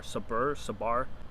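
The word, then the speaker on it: sabr: I can't pronounce the word, but it's S-A-B-R, sabar.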